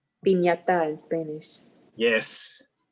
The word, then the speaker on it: piñata: Piñata in Spanish. Yes. Remember, the T sounds like ta, te, piñata. Piñata. And Correct. like in English, it's pin, but in Spanish, it's pin. Piñata.